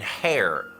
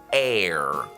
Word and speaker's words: heir: on that person's death。要注意啊，这个拼写为 H-E-I-R 的单词可不念 hair，而是 air，和空气 air 的发音是一模一样的。这个 throne 是宝座或者王位的意思。就算没看过，您肯定也听说过《权力的游戏》这部剧，对不对？Game of